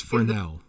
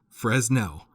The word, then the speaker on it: Fresnel: because they don't know how to correctly pronounce frenelle that's another one of my petty hills that i'll die on it's fresnel for now yes so many people say fresno and as a person